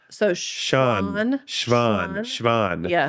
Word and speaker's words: Svan: Muka ado see I didn't correct you and you did it so that s think of it as like sha sovan this isn't something we say in English we never asa